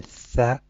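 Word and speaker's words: ث: In Tha, the tip of the tongue comes slightly out.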